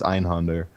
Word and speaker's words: Einhänder: The in-game spoken one is Einhänder, so let's just go with that.